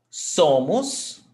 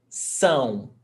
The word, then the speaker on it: são: Nós somos. Somos. Stressed syllable before last. Somos. Vocês são. Ão. Same thing. Ão. The shape of your mouth has to change. Ão. São. Not som. São.